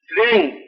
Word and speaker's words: श्रीं: बाकी जो है छठा बीज आप लिखिए श्रेंग। श्र ऊपर मात्रा और बिंदी श्रेंग। श्रेंग का मतलब होता है कुबेर। श्रेंग श्रे हाँ स्पेलिंग लिख दीजिए SHREENG श्रेंग।